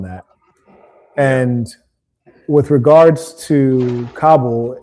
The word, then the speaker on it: Kabul: And with regards to Kabul, you kind of pronounce it funny, like Cabo in Mexico, but Kabul is the capital of Afghanistan.